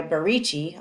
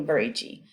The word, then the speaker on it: BaRicci: So I go by is a first name, and I am because my name's spelled with a J, and I go by Barici.